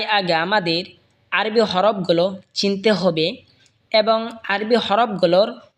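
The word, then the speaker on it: حاء: হা হলকের মধ্যখান হয়তো উচ্চারণ হবে হা। হা বরহা হা।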